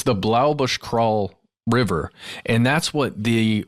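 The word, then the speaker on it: Blaauboschkraal: people the name of that River it's the Blau Bush crawl River and that's what the all of these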